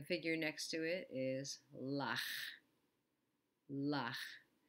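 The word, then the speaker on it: לָךְ: The figure next to it is lach. Lach. The lamed has the ah sound, and then the kaf sofit has the shva.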